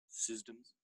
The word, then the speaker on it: CSDMS: If you, by the way, those letters, if you say it with a soft C and sort of a hard D, it sounds like systems. So you sometimes hear people refer to it as systems.